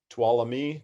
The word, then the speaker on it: Tuolumne: name tuolumne starts and kind of hard for some people to pronounce it so what we teach the kids is to say twala me to all of you and so that's a nice way to remember our our river's name and then from tuolumne